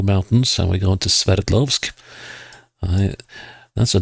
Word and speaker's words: Sverdlovsk: And we are going into, to the Ural Mountains, and we're going to Sverdlovsk. That's a name I have to work on, concentrating on pronouncing, because Sverd, as we say in Norwegian, is the Norwegian term for sword.